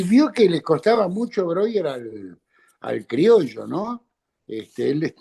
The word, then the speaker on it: Breuer: el Ahora te voy a preguntar con Broer Brewer. Ahora vos me vas a decir, pero antes que todo muchísimas gracias por tomarte el tiempito de charlar un rato acá. Por supuesto, Broer. Broer se pronuncia Broer.